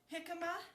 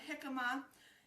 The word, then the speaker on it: jicama: All right, now you can do jicama. If you've never tried jicama, try it. Go and, it's spelled J-I-C-A-M-A, jicama, and it's kind of like a cross between an apple and a potato.